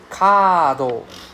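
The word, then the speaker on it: カード: Kado. Kado. Right? So card. Right? Kado. So it's a long A sound.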